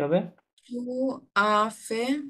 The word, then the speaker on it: fait: এটা past participle form হচ্ছে ফে, এফ এ আই টি, হ্যাঁ, উচ্চারণ হবে ফে। তাহলে যে ফে, কি হবে? যে ফে। J'ai fait.